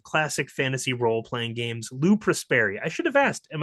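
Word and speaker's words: Lou Prosperi: Lou Prespary. I should have asked, am I pronouncing your name correctly?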